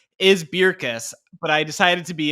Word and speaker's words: Bircus: the beer is called beerus is the Flemish pronunciation but it sure looks like burkus so as long as